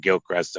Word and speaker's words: Gilchrist: that's the county obviously Florida it must be Gilcrest County right that is correct it is the